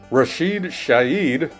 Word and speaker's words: Rashid Shaheed: Offense-wise, Rashid Shaheed, yup, that's how you pronounce it, had 4 catches for 114 yards and a touchdown.